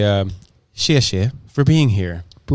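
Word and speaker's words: 谢谢: And did I pronounce shieh shieh right? Really well, actually. Yeah. Yeah. People have they struggle with the X.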